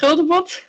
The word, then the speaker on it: Guldemond: her powerful voice, Gludmond. Did I say it correctly? If you want to do it in Dutch, Guldemond, but it is the English pronunciation is fine.